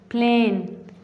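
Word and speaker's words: plane: प्लेन. ये देखें, इसमें जो आई है ये साइलेंट वर्ड है, तो इसे हम पढ़ते हैं प्लेन.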